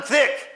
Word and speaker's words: Thicke: Son père, Tyke. Comment vous prononcez en français? Tyke. Alan Tyke, comment il s'appelle? Comment? Alan Thicke, exactement.